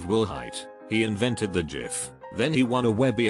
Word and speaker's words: GIF: height he invented the GIF then he won a Webby award for it Webby award speeches are only allowed to be five words long he went up and said it's pronounced GIF not JF a